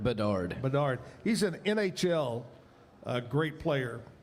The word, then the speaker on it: Bedard: 2005, Connor, how do you pronounce that? Bedard? Bedard.